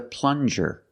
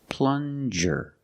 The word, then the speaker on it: plunger: good this is a plunger plunger use the regular n and the J sound like juice plan jir this is